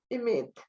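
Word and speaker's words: אמת: En hebreo se dice emet.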